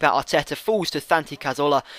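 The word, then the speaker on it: Cazorla: ateta Falls to thanan cazola I always put so much Spanish pronunciation on that and it falls to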